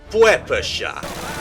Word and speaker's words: PPSh: A fun fact about the PPSH-41 is that it's pronounced something like Puepesha, which the memers of the time nicknamed Papuchka.